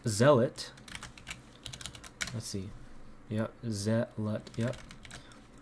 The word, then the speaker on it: Zealot: of the 12 Simon the zelit I said zeit wow total fumble when that's pronounced Zealot let's see yep zet yep totally fumbled that